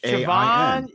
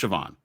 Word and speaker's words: Siobhan: It's Siobhan. Siobhan Yale worked with me at ESPN. It is pronounced Siobhan.